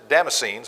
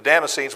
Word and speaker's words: Damascenes: In Damascus, the governor under Aretas the king was guarding the city of the Damascenes, I'll say it right in a second, the Damascenes with a garrison desiring to arrest me.